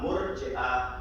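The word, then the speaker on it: مرجئة: Murji'ah is spelled as Mim, Re, Jim, Hamza. And then the round ta, Murji'ah. There's no Ain in it.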